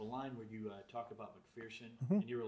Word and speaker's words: McPherson: There's no fear in McPherson.